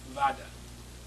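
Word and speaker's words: Vodder: Emil Vada. It's spelled V-O-O-D-E-R, but the Germans pronounce it with an F. So I call him Dr. Vada as well, out of respect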